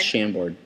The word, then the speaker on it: Chambord: I don't know how to pronounce it. Yes, it's Chambord.